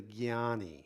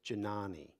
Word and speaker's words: Jnani: That's the path in this tradition of the Jnani. It's often mispronounced as Janani. It's not a J, it's a Jna. So it's a jnani, a knower.